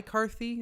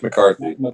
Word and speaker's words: McCarthy: that kind of makes sense was it my Karthi is that how you say his name Mike Karthi Mike McCarthy McCarthy um have you said that he's more